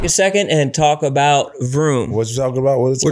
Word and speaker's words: Vroom: what's going on, you need to check out Vroom. How you say it again? Vroom, V-R-O-O-M.